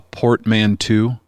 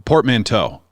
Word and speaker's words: portmanteau: with Yeah, it is I don't know how to pronounce this word. A portmanteau. You know what I'm talking about? A portmanteau.